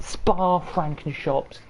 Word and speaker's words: Spa-Francorchamps: But we're here tonight at Spa-Francorchamps, that's how they say it, for the final round of the Ginetta Evolution Series.